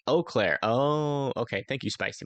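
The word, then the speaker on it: Eau Claire: that by per chance eclair is pronounced o Clair oh okay thank you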